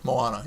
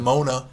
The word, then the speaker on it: Moana: Moana, you're right. Whatever. That too. Better than Mona, as somebody else pronounced Yeah, it I've heard once people call it Mona. on television. I heard somebody call it Moaner, and I thought, you